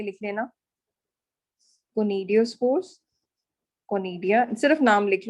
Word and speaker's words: conidia: How to pronounce the first one? Conidia, CONIDIA, conidia, sporangia, In sexual spores.